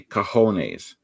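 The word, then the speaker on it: cojones: Rocky should be seeing kajon because he never saw it written down if you saw that written down you would mispronounce it if you didn't know the J sounds like an H but he only heard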